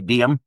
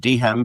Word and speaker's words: Dehem: All these years, I've never been sure of whether your last name is two syllables or one syllable. And you're confirmed that it's two syllables. Yeah. There's still some people that say DM. just the D and the M. I've always said Dehem because originally when our